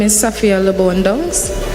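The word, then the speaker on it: Downes: what is going my name is safia Leon dongs how do you spell that last d o w n e s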